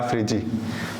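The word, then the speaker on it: Phryge: तो ये जो है ये हमारे पैरा ओलंपिक का फ्रिजी नाम बोलते हैं इनको, ठीक है, प्रोनाउंस ऐसे करते हैं, ला फ्रिजी, ठीक है।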